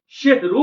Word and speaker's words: সাহারি: তার সকল নিয়ামতকে, সকল মুজিজাকে তারা জাদু বলেছিল, সেহরু বলেছিল। অতএব সেহরি শব্দের অর্থ হলো জাদু। অতএব আজ থেকে সেহরি শব্দটা উচ্চারণ আমরা করব না, আমরা সেখানে উচ্চারণ করব সাহারি।